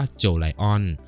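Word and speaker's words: Jolion: หา ว่า โจ Lion ซึ่ง ชื่อ จริง ออก เสียง ว่า โจ Lion โดย ก่อน หน้า นี้ ทาง เรา ได้ มี เสียง ผิด มา ตลอด สำหรับ Power โจ Lion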